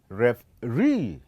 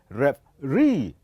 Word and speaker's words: referee: We pronounce this as referee. It is referee. So the last syllable, it is the one that will be heard louder comparing to the other.